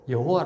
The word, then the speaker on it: 여호와: 성경이 나서 개정되어 가지고 아주 야외 라든가 야외 라든가 야베 라던가 뭐 그렇게 확장을 하면 또 그렇게 우리가 바람 하겟지만 지금으로썬 뭐 성경대로 여호와 라고 이제 발음할 수 밖에 없죠 입장이 그렇다는 거예요